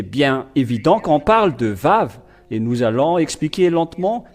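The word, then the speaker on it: ו: Le Vav, c'est le V qui est dit ici. On le prononce Vav.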